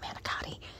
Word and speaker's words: manicotti: I know, if you're not Italian, you're like, what the hell, isn't it called manicotti? I say manicotti because I'm Italian, and that's the proper way to say it.